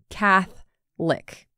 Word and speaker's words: Catholic: There's an O in Catholic right in the middle, but we don't really pronounce that. Catholic, like you're licking someone named Cath.